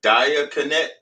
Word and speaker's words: diaconate: a member of a diaconate, an office in Christian diocese. That is it's a diocese. No, it's spelled Diaconate. I know how to read. Oh, that's a diaconate. Okay, it ain't diocese. which would be a diocese, but okay.